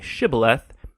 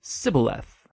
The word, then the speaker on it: shibboleth: turned out that the ephraimites had grown up pronouncing that word differently so instead of saying shibboleth they would say sybileth when that happened the gilinite guard would execute